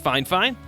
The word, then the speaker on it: Fifine: uh just a thought um so yes it's pronounced fine fine and I think um I would recommend the